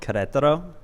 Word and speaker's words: Querétaro: Do you want to give it a shot, the pronunciation of the name? Yeah, sure. So where I moved is called Querétaro. And Querétaro is like, honestly, it's actually, have you ever been to Chiang Mai?